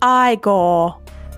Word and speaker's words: Igor: No, it's pronounced Igor.